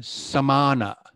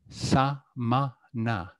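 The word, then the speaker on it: samaṇa: Another word that, once again, I hear sometimes mispronounced is the word for the wandering ascetics of the time. The word here is samana, or sometimes I hear it used as Sanskrit, which is shramana.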